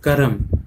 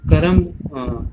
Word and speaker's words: कर्म: ये क्या लिखा है, करम। यदि हम बच्चों करम का उच्चारण करेंगे, अपने मुंह से करम कहेंगे, तो हम इस तरह से करम लिखेंगे, जबकि वास्तव में होता क्या है, कर्म।